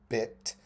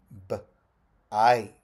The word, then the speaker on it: bite: And now, it does not say bit. It says bite.